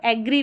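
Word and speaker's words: agree: लेकिन मोस्टली इसका जो करेक्ट प्रोनंसिएशन है अग्री करके होता है और एग्री भी पढ़ते हैं तो गलत नहीं होगा।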